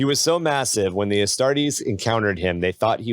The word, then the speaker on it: Astartes: I always say it wrong. Astartes, not Astrades, Astartes.